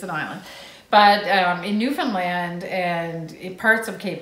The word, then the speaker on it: Newfoundland: Even though it's spelled like Newfoundland. Never but call it that. Don't say that. It's Newfoundland.